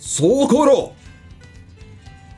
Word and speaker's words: Socorro: Which is, you just have to go through a bit of Japan to Socorro. That's how they pronounce it. Socorro!